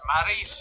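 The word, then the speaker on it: Maryse: Maurice, it's pronounced Maurice, you idiot.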